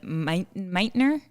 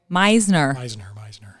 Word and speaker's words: Meisner: She's trained in the Meitner. You can tell me how you say it. Meisner.